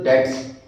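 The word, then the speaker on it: debt: डेट word के अंदर B silent है, प्रोनाउंसिएशन में डेट में बी साइलेंट रहेगा।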